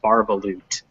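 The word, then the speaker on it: Bar-ba-loot: very good very good correctly guessing how to pronounce barbaloot um now some some bits um that word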